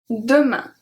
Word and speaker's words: demain: Demain. AIN make the sound un.